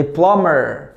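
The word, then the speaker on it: plumber: مكتوب في البورد كده حرف البي بيبقى سايلنت زي كم مشت سي او ام بي ماتنطقش زي بلامر بلامر سباك بي ال يو ام بي اي ار تتنطق ها بلامر كلايم كيمين كلاين كم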